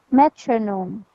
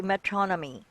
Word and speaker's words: metronome: all right metronome um metronome so it shouldn't be metronomy it should be metronome metronome metronome you see this sign there that sign will tell you how you're going to pronounce the last syllable oh metronome okay okay